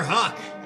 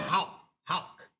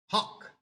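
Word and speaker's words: Houck: Tanner Huck. Actually, it's actually pronounced H. Hawk. Hawk. Hawk. Like hawk. Too tanner. Hawk like you're hawking a lugie.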